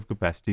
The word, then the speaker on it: kappa: जो है ये प्रोडक्टिव कैपेसिटी को शो कर रहा है, but this symbol actually is called as कापा और कैपा in this couple of pronunciations.